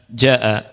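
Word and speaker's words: جاء: Ingat bacanya panjang, 4 atau 5 harokat. Tapi kata ulama dari sisi bacaan yang lebih diutamakan itu yang 4 harokat. Ya. Perhatikan ikhwan, kalimat ja'a, ja'a ya, ja'a.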